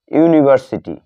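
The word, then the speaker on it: university: Reads, he reads dash ইউনিভার্সিটি, সে বিশ্ববিদ্যালয়ে পড়ে। এখানে এ ইউনিভার্সিটি, সে একটি বিশ্ববিদ্যালয়ে পড়ে। এখানে ইউ এর উচ্চারণ কিসের মতো হচ্ছে, ইউ এর মতো, যার কারণে এখানে এর পূর্বে এ বসলো।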